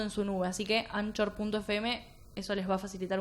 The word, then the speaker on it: Anchor: No, hay una plataforma que se escribe Anchor, se pronuncia Anchor, tenés razón.